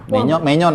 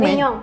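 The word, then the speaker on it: Maignan: Menyon ya? Bacanya Menyong. Menyong ya? Tulisannya Mike Nan kan? Menyong. Menyan. Menyong bacanya. Ini main-main dukun nih Milan ya, makanya dia bilang segede itu.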